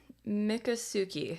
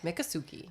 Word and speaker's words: Miccosukee: I'm I really don't want to butcher the pronunciation oh right yeah like all right Miccosukee Miccosukee okay all right Sookie hi Miccosukee ho mine